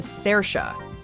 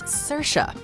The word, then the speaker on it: Saoirse: say Saoirse or even Sarah but as explained to Stephen Colbert MS Ronan's given name is pronounced Saoirse like inertia of course approaching it